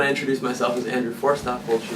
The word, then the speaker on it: Forsthoefel: Tell us how to pronounce it. I'm getting there, just arriving. It's Forsthoefel.